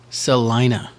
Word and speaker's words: Salina: Just so you know, it is Salina. Really? Yep. I've always said it wrong. S-A-L But I don't live there, so. E-Y-E for pronunciation. I. Salina. Hey, Selena Steve.